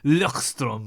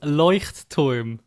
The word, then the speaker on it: Leuchtturm: with the lex lexington how do you say that i can't i think it said lockstrom or something yeah it's leuchtturm oh that sounds a